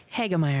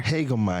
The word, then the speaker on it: Hagemeier: how do you say your last name heger heger incredibly German okay we have heger in